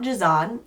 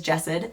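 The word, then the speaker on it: Jasad: this book series as well as the author's name wrong in the last few vlogs. So, it is not Jazan, it is Jessid.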